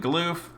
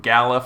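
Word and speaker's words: Galuf: with leona dorgan and gloof or gallif however you want to say how do you how do you say this guy's name deuce people oh galoot if you say the same as me good i got it right uh and then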